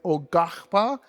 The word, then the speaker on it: Quapaw: By the way, Ogahpa is spelled Quapaw. Ogahpa, just like it sounds.